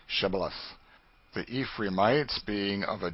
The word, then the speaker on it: Shibboleth: to let none pass who could not say Shibboleth. The Ephraimites, being of a different tribe, could not frame to pronounce the word right, but called it Sibboleth, which proved them enemies and cost them their lives.